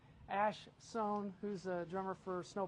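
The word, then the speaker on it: Ash Soan: I'm going to see Ash Sohn. I said it right that time. Ash Sohn, who's a drummer for Snow Patrol, who's doing a clinic there tomorrow afternoon at 1 o'clock.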